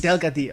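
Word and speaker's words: Delgadillo: more name Delo yes delgadio Delo I was going to get you to pronounce it I remember it because when you got two L's in Spanish the second one sounds sounds like a wi isn't it yeah so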